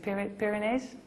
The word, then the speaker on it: Pyrenees: Well, my father the first 3 weeks, and we were just over the, I don't know how you say it, Pyrenees? Yes, over the Pyrenees, perfect.